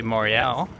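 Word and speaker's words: Montréal: Just as French people don't say Montreal, they say Montreal. Montreal is the French Canadian pronunciation.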